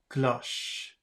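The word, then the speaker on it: cloche: Glo glow but then the second one c-l-o-c-h-e should be glush let's see yes okay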